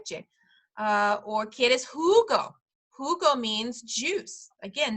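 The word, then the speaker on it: jugo: uh or kid is Hugo Hugo means juice again that J is going to make the H sound kid is Hugo do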